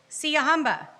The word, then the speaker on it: Siyahamba: Siyahamba.